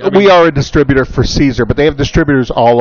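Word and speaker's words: Siser: We would say that's scissor, but they're an Italian company, and it's pronounced Caesar.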